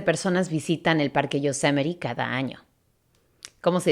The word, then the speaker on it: Yosemite: Syria yeah so might pero no la pronunciation correct ax s Yosemite Yosemite in latte no H aside a solo s Yosemite over 3 million people